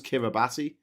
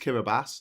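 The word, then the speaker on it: Kiribati: The Mest one was Kiraabati. They're like, "No, it's pronounced Kiraabas." And I'm like, "Why does it in a ti then?" Like, "Because that's how we put our s's.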